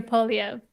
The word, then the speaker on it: Poilievre: We heard Nat, what is the pronunciation of the gentleman that's running against Trudeau? Pierre. Pierre Poilievre.